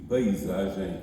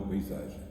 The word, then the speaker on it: paisagem: semântico redutor e aviltados Que pronuncio paisagem e não paisagem ou paisagem o que aliás recomendava